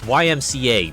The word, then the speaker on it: YMCA: Yeah, we used to hit up the local YMCA for roller disco. I'd admit, I didn't visit the YCMA. Why do I keep saying YCA? It's YMCA. The YMCA.